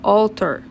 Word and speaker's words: altar: Então, a gente pronuncia diferente. Pra gente seria altar, em inglês seria altar, ok?